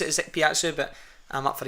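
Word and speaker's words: Ikpeazu: was saying he got word from close to Icky Pizu and that's how you say his name, and they were like, no chance, absolutely no chance. The rest of the guys, I pronounce it as Piatsu, but I'm up for Icky Pizu now.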